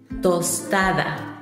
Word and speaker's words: tostada: as well I just put salt on it tostada toada tostada is a Mexican dish consisting of